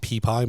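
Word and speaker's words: Pepie: So I'm saying the name wrong intentionally. It's probably pronounced Peepie Monster. But I'm saying PP Monster.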